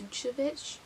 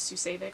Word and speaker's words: Sucevic: of campus by jennifer i think it's pronounced suchovich i thought it was susevic for the longest time but i'm pretty sure the audiobook did not say that this one i actually